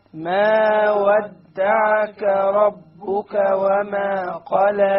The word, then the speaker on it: قلى: ما ودعك ربك وما قلى. Notice the kaf and the qaf. ربك وما قلى. Ka, qa. Notice this is one of the most common mistakes, is that the qaf is mispronounced.